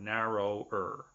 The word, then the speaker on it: narrow: with a vowel sound it doesn't end with a vowel but the W is silent so narrow okay also clever is